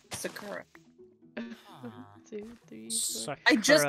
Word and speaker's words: sakura: It's sakura. Two, three, four. I just got corrected on this pronunciation.